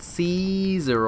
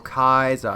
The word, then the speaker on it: Caesar: if i'm not mistaken kaiser is actually the original roman pronunciation of his name which is where the